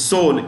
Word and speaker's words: Seoul: South Korea is Seoul, S-E-O-U-L. The E is silent in Seoul.